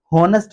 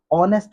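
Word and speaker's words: honest: क्योंकि मैंने बहुत सारे लोगों को होनेस्ट वर्ड भी बोलते सुना है। मैं इसलिए बता रहा हूं इसको ऑनेस्ट वर्ड ही बोलेंगे। और ऑनेस्ट वर्ड बोलने की वजह यह है कि एज इसमें साइलेंट है।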